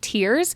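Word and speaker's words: Tyrr: word mentioned here that's capital t y RS pronounced tears this is referencing the people of tyor I was a little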